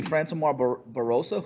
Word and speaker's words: Francimar Barroso: a win inside the octagon against I cannot pronounce this guy's freaking name. It's actually Francimar Barroso, who actually just fought on PFL on Thursday night.